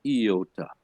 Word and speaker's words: iota: the word is subscript so it's not a Toyota but an iota sub script means sub